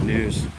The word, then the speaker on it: gnu: the wildebeest their African name is the new that is spelled gnu after the grunting noise that they make which sounds like new new their calves can stand